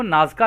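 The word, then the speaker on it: Nazca: शामिल हैं तो दोस्तों इंग्लिश में इनको नाज का लाइंस बोलते हैं यहां पे जो स्पेलिंग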